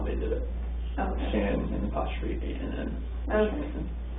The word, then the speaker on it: Shanann: It's easier to say it when I spell it out, but you keep wanting to say Shannon, of course, but a lot of people call her Shannon.